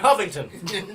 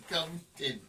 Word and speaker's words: Covington: Okay, Mr. Huffington. No, it's Covington. It's Covington. How dare you say my name wrong, sir?